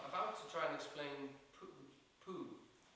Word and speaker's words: Pooh: Pooh, by the way, is pronounced sort of like poo, but not so much. But without so much ooh. Like the sound you make when you're blowing a fly off your arm on a hot summer's day.